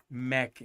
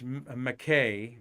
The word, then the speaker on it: McKay: for the holidays, and his name was Donald Mackey, Mackey, and I think it's and out at I think it's McKay, and I'm going to show you that here in a second.